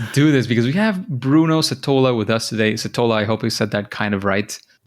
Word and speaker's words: Setola: So you would say Setola in Spanish. If you had it in the A, it would be Setola, or Setola if you said it said the accent on the E.